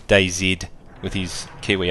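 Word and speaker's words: DayZ: is why I say day Zed I say it that way because a lot of people in England Canada Australia say it that way it's really the Americans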